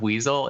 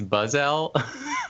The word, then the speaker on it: Buzzell: No, his name is Aaron Weasel, except it's not Weasel, it's Buzzell.